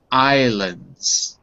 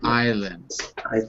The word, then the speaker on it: islands: the way just be careful with the pronunciation Islands Islands Islands there's no s yeah there you go